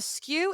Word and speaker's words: SKU: of your product now SKU is spelled SKU and it stands for stock keeping unit a skew is a fancy way of saying A variation so if you